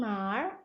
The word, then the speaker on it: 哪儿: Boleh bacanya langsung nar atau mau dipisah juga boleh.